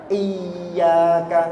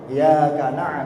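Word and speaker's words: إِيَّاكَ: Ya kana abudu wa ya kana stain tanpa tasydid. Ini fatal sekali.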